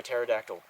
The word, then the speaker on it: pterodactyl: can't you hear a pterodactyl go to the bathroom cuz the P is silent all right that's gonna